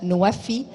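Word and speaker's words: NWFE: Egypt's country platform for the nexus of water, food, and energy, pronounced NOAFI, was launched in July of 2022.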